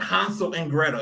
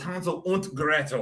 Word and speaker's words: Hansel und Gretel: If you notice that I pronounced it in like a German accent, because they are very German. It wasn't Hansel and Gretel. It was Hansel und Gretel.